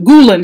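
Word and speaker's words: Gülen: remember guys Fethullah Gulen Gulen just say GU le and Gulen is the name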